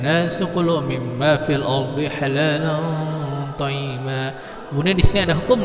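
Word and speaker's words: حلالا طيبا: Jadi cara membacanya fil ardi halalan thayyiba, halalan thayyiba. Lan ini disamarkan, dipanjangkan 3 harakat baru dibaca ketok ini.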